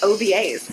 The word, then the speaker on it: Ovies: Jessica's not gonna say it cause she's gonna mispronounce it with Miss Alicia obas yeah I did that right you did you